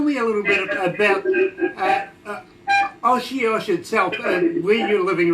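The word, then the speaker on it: Osoyoos: Now, tell me a little bit about Oshiosh itself, where you're living right now. How did the name come about? Where does the name generate from? Okay, it's pronounced Osuyas, and it's from First Nations.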